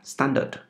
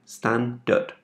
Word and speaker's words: standard: Ở đây về phát âm mình có một chú ý một chút, đó là standard. Cho âm rơi vào đầu tiên, standard, standard.